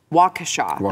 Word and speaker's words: Waukesha: day after a man in wakesha waukesha that's how you say it waukesha wisconsin ran over